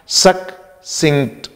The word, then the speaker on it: succinct: इसमें स्पेलिंग में double C है, SUCCINCT, तो ये सक्सिंक्ट, just you divide it into two parts and then you pronounce it, सक्सिंक्ट, सक्सिंक्ट, clear है।